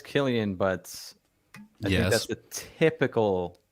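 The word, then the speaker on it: Cillian: yeah wow I just listened to how to pronounce it says Killian but yeah that's a typical so were you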